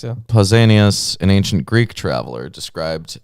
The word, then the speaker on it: Pausanias: Pausanias, yeah. Pausanias, an ancient Greek traveler, described it as follows.